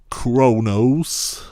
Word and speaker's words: Qo'noS: A few shows later it will be called Kronos, Q-O'-N-O'-S, pronounced of course Kronos, and we see some beautiful matte paintings, and